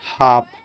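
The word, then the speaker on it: half: जैसे कि हाफ इसमें क्या है? एच ए एल ए एल के पहले क्या आ रहा है? ए आ रहा है। तो ए को साइलेंट कर दिया।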